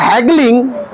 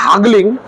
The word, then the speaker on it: haggling: চলো, আচ্ছা, এবার good deal of হ্যাগলিং, নট হাগলিং, the other agreed, এবং অনেকে মেনে নিল।